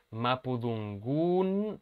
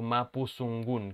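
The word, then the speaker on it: mapudungun: ¿Es mapudungún o mapuzungún? Que es una lengua de un Se pueblo. dice mapudungún y se dice mapuzungún. Se dice mapuzungún. Okay. Sí. Ok, vale. Y se escribe con D, mapudungún. Exacto, y con la última U con los dos puntitos.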